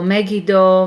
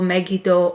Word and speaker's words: Megiddo: in the hebrew class you can have a the letter used or annoyed and it will sound e so megido megito or maggie dawn with n in at the end okay so that's how